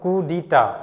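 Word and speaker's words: coup d'état: the seller beware next ইয়াৰ pronunciation টো হল kudita মানে এই ফালে সাইলেন্ট আছে ইয়াত আৰু লাষ্টৰ ফালে টি টো সাইলেন্ট আছে এটো কি হয় যেনেকে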